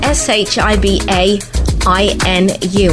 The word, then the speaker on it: Shiba Inu: That's 2 separate words spelled S-H-I-B-A-I-N-U, and I think I'm pronouncing it right.